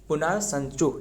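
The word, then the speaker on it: Punatsangchhu: पुनाट्स चू पुट्स चू जो कि पुनाट्स ये मतलब नाम से आपको पुना संसू ये टी मतलब ये साइलेंट रहने वाला है पुना संसू ये एक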